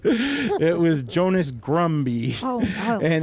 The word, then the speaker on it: Jonas Grumby: Except Maria, somehow you butchered some of the names. It was Jonas Grumby.